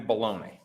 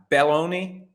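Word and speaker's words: Belloni: on a podcast called the town with Matthew baloney I hope I'm pronouncing that correctly I'm always sensitive to the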